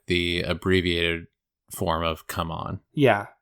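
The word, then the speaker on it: CMON: zombicide that option is available to you right C Mon is happy to oblige I'm sorry not C Mon anymore come on what that's how they prefer it to be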